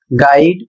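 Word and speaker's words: guide: अगला शब्द है जी यू आई डी ई और इसे पढ़ा जाएगा गाइड।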